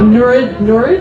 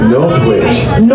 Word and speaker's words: Northwich: Norwich? Is that how you say it? Northwich.